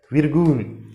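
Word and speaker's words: Virgel: Next ये है slash, what is this, विर्ग्यूल, विर्ग्यूल इज the English, यहां पर व से उच्चारण करेंगे हम, नो के फ से, because this is the English letter, विर्ग्यूल।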